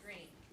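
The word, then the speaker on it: Greene: My name is Green. That's green with a silent E at the end.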